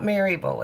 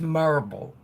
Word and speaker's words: Maryville: my mommy oh okay you've gotta say right marble hmm it's not Maryville it's spelled Maryville but it's not you guys it's marble mm-hmm and you can